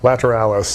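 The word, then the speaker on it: Lateralus: this new lp how do you say it lateralists is that right lateralis lateralis right okay so that's how it's pronounced they were just better at doing the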